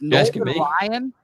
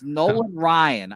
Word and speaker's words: Nolan Ryan: know I just wanted to make sure it's noan Ryan it's Nolan Ryan I they also got him in 1988 so